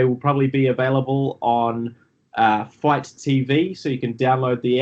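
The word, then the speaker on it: Fite: So if you're a fan, they will probably be available on Fight TV. So you can download the app, Fight TV, which is spelled F-I-T-E.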